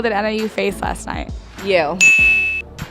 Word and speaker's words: Yale: Yale. Rhymes with Dale.